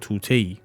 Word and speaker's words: طوطی: navāzi sabz o gooyā tuteyi" "Dar dokān budi negahbān-e dokān Nokteh gofti bā hameh sodāgarān" I read it az "tuteyi" for the sake of rhythm. "Tutiyi" is the correct term.